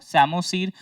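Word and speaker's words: psammosere: Sand में होगा तो P साइलेंट रखो, सैमोसीर।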